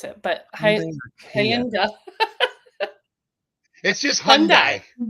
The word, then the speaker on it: Hyundai: Well, we've got Hyundai or as my sister would say, Hayi or something like that or Kia.